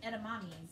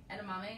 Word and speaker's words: edamame: It's like edamames, right? Am I saying it right? Edamame, yeah.